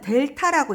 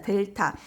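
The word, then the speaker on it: Δ: 그 다음에 이 앞에 나오는 이 세모 모양은 뭐라고 읽냐면 델타라고 읽습니다. 델타.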